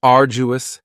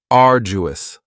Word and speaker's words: arduous: next is arduous and arduous has three syllables and the stress is on the first syllable uo now you don't hear that D sound that much it's not very strong it almost sounds a little like a j arduous arduous something that is